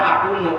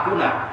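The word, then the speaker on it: أكونَ: Asalnya akunu, oleh karena kedatangan hatta maka menjadi hatta akuna. Jadi kalau umpama ada penceramah, kiai, ustaz walaupun sudah tenar, dia baca hatta akunu, itu ketahuan salah bacanya.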